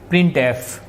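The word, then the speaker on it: printf: function जो होता है प्रिंट एफ फंक्शन को प्रोनाउंस कैसे करेंगे डीयर स्टडेंट उसको बोलेंगे कैसे प्रिंट एफ यानी इसको आपने रीडिंग करना तो आपने क्या कैसे रीड करना है प्रिंट एफ प्रिंट लिखेंगे तो गलत हो जाएगा इनवैलिड स्टेटमेंट हो जाएगी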